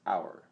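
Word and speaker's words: אור: which enlighten the world in Hebrew the noun for East is our pronounced our AVR and the word for light has the same spelling and practically the same pronunciation luminous intelligence the Kabbalistic name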